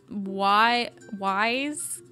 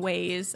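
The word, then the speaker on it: Wyze: Um, it's the Y Wise V3. I think I always say it wrong. I like saying ways. I don't know why. Um, but it's WY Z V3.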